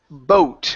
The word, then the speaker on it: boat: next one here is boat instead of bat okay the a does not make a sound and we do not